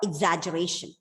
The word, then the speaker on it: exaggeration: That is called exaggeration. Exaggeration, right? T-I-O-N, penultimate syllable, focus on that, stress on that. So exaggeration.